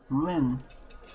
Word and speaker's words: Rouen: Rua. Is that, how do you pronounce that, Zen? Rouen.